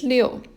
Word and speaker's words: 六: left and another dot this one's pronounced as leo if you look at